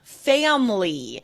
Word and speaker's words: family: And then family. Yeah. It's like that I in the middle disappears.